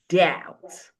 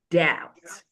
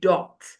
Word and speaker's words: doubt: The B is also silent in the word doubt. Doubt. Doubt. We don't say dot.